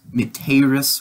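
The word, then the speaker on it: mittēris: get used to so miteris with with a short e is you are sent present tense meteris with a long e will be you will be sent and we'll get to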